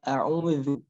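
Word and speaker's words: أعوذ: A'udzu, a'udzu. Nah, hati-hati juga jangan sampai zal ini dibaca tebal. A'udzu misalkan. Nah, jangan sampai. Zal itu sifatnya tipis.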